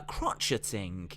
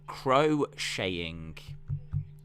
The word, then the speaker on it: crocheting: look he's written it down fair play uh crotcheting it's pronounced crocheting crotcheting we all knew what you meant uh